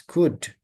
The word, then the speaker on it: could: Could you say it? Yes, could. Most of you most of you put the L sound right?